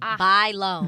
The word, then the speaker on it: Bailon: do you say correctly buy think like you buy something and then you loan something buy loan buy loan buy loan